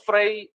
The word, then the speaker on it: Freire: eh siapa sih sebenarnya Paulo fre ini sebenarnya kayaknya kalau dalam bahasa Inggris itu dibacanya Frei ya Tapi karena kita orang Indonesia gak apaal ya jadi e beliau